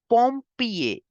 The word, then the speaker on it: pompier: You will say firefighter in French as pompier. Male firefighter as pompier. There is er in the end, so we have to make the sound of a.